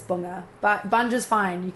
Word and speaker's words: Bunge: when we say Bungee? Um, yeah. But that's how like that's how we say it. Like my family say it like that. So, um, but if you pronounce it correctly, it's bunga.